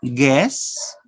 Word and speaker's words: guess: remember no gut sound some words have a silent u after g listen and say these words guess guessed so the letter u is not pronounced listen and say these